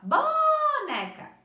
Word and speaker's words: boneca: Perceberam que o né a prof pronunciou com mais tempo e também com mais intensidade? Então, qual seria a sílaba tônica da palavra boneca? O né.